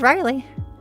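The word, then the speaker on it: Rylie: But my name is Riley.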